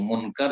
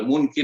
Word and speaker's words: মুনকার: তাদের দুইজনের নাম হচ্ছে মুনকার একজনের নাম, এবং নাকির। শুদ্ধ নাম হচ্ছে মুনকার এবং নাকির, কিন্তু আমাদের দেশের লোকেরা বিকৃত করে বলে মুনকির নাকির, ভুল উচ্চারণ।